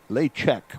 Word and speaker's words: Lechek: Lechek would be the pronunciation on that.